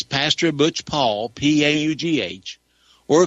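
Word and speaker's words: Paugh: It's Pastor Butch Paul, P-A-U-G-H, or call to Decision Ministries. The address is 224 Hurd. That's spelled H-U-R-D.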